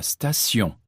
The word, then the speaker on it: station: Le T de direction se prononce S. La direction. La station.